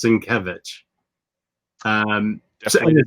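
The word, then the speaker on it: Sienkiewicz: that very well yeah i've learned that it's cinkevich um i did not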